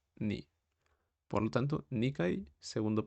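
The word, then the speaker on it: 二: momento podemos quedarnos con que el dos se pronuncia ni por lo tanto nik segundo piso posteriormente tenemos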